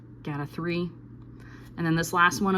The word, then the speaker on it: GATA3: The way that I'm remembering this one is get a T cell, so GAT, and also 3 rhymes with T, so GATA3.